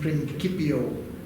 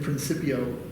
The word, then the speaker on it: principio: Jerome, it is in principio, or in principio, depending on which school of pronunciation you prefer.